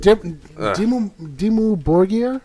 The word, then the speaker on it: Dimmu Borgir: Dimmu Borgir? Yeah. That's how you pronounce They're it?